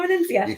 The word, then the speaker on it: Venezia: The Venezia. You have to say it like this. Carnival Venezia. When you say Venezia, and I think when you do the Firenze, you have to do the same thing.